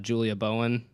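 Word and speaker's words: Julie Bowen: out that that Matt Walsh's new wife is Julia Bowen that's how you say her name modern family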